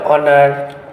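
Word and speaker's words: honour: क्योंकि एच जो है वो साइलेंट है और यहाँ पे ऑनर, आवर, honest man यूज किया जा रहा है।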